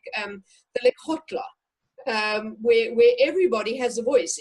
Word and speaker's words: Lekgotla: It is Lekgotla, L-E-K-G. O-T. So it has a sound in it, Lekgotla.